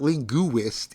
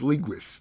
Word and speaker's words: linguist: It's only two syllables. It's not linguist. It's linguist.